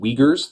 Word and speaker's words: Uyghurs: group of people who live there are called uyghurs that's how you pronounce that word it looks weird that's as